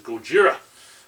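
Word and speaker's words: ゴジラ: you know in JP in Japanese it's Gojira you know but Godzilla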